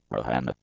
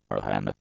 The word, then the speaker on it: Rihanna: Robin Rihanna Fenty, born February 20, 1988, better known as simply Rihanna, pronounced /Rin/Rihanna, is a Barbadian / B recording artist.